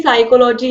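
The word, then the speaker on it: psychology: जैसे कि साइकोलॉजी है तो आप उसको लिखते किससे हो? पी से लिखते हो।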